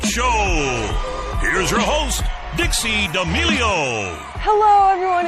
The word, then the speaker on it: D'Amelio: D'Amelio. I always get it wrong. Yeah, how do you say it? I say D'Amelio, but I do that. I just get everyone's name wrong.